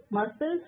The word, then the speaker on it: muscle: Muscle C silent.